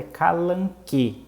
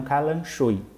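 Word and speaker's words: Kalanchoe: Então, o gênero correto dessa planta que ela encontrou é calanque e não calanchoi, tá bom?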